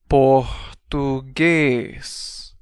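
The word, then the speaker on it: português: this is how you say Portuguese in Portuguese puges P Portugese so Al together we have K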